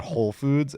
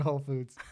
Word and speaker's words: Whole Foods: just like freaks out you don't even say the W in Whole Foods it's just like a silent W that's so funny my